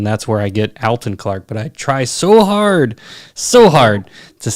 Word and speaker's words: Alton Clark: His name was Alton, and he spelled it Alton, and that's how he pronounced it, Alton. That's where I get Alton Clark.